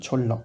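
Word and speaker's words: 전라도: Jeollado, s'écrit comme ça, donc Chon-da, mais se prononce bien Cholla.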